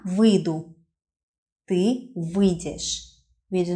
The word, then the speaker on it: выйдешь: "Я выйду, ты выйдешь" (with the not pronounced "й" very clearly here, it's more like "вы-дешь" without "й" at all), "ты выйдешь, он/она выйдет, мы выйдем, вы выйдете, они выйдут".